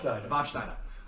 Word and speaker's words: Warsteiner: Pronounce it with an SH. There you go. Warsteiner.